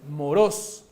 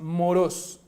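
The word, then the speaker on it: μωρός: bueno hablando griego pero la pronunciación es moros es moros y esto quiere decir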